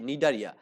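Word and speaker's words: Cnidaria: আমাদের এখানে নিডারিয়া এটা বানানটা একটু ভালো করে দেখবেন সি এন আই ডি এ আর আই এ নিডারিয়া আবার অনেকে সি বাদ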